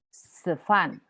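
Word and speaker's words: 吃饭: 吃饭，吃饭， nadanya 吃吃饭. 饭， Nomor 2. 吃饭， Fan, nada 4. 饭， Yes. 吃吃饭. 吃饭， C bacanya ada angin.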